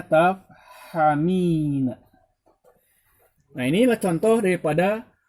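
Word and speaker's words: تَفْهَمِينَ: Huruf mudhari'ahnya adalah ta, bukan iya, tapi ta. Dibacanya tafhamina.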